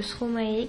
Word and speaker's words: Stromae: brésil une petite information il ne faut pas mettre d'accent sur le e de stromae qui se prononce trop mal merci c'est la fin